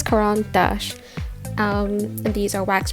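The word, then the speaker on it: Caran d'Ache: and I believe it's Quan Dash or like that's like I guess the most English way to say it because it's a it's a French name um but I'm not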